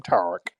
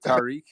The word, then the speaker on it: Tariq: he pronounced my name tariq so what's going on how do you pronounce is it tariq tariq it's terrific but the white version the white version is